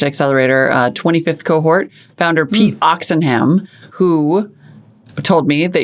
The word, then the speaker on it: Oxenham: 25th cohort founder pete oxenham who told me that you pronounce his last name ox and ham which is awesome beautiful pete oxenham is the founder of